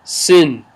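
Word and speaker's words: س: zebra then we have the letter sin which is pronounced like in sync like in sync then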